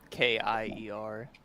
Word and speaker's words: Kier: It's spelled Keer. Kier, but doesn't matter either way.